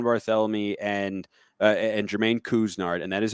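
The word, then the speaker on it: Couisnard: and uh and jermaine kuznarth and that is how you pronounce it everybody kuzner like k-o-o-s and then nard and ryan i'll ask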